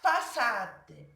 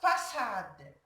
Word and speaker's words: façade: La façade. La façade.